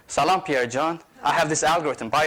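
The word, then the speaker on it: جان: other Persians a lot it's a three-letter word spelled Jan pronounced John and when you tell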